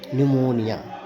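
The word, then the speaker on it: pneumonia: इसका में क्या रहेगा यहां भी पी साइलेंट रहेगा और इसको पढ़ेंगे एन ई यू एम ओ एन आई ए न्यूमोनिया पी एन ई यू एम ओ एन आई ध्यान देना है यहां पे यही कि हम इस लेटर को लिखेंगे पी के साथ हम लिखेंगे पी से शुरू करेंगे और लेकिन इसका हम बोलने के क्रम में इसका प्रोनंसिएशन नहीं करेंगे नेक्स्ट लेटर आता है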